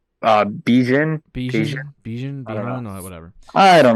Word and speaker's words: Bijan: I think it's not Bijan, but Bijan.